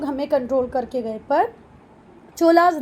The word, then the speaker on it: Chola: वैसे अगर हम एक्चुअल में बात करें तो ये चोलास नहीं है, ये चोल हैं, ये पल्लवास नहीं है, पल्लव हैं। क्लियर है? चलो छोड़ो इसको, चोलास बोलना है चोलास बोलो, पल्लवास बोलना है पल्लवास बोलो, पर स्पेलिंग याद रखना।